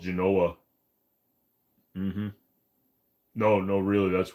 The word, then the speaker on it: Genoa: salami or ham uh I prefer Genoa salami and if you're going to say no it's actually pronounced Genoa shut up I actually went to a grocery store and the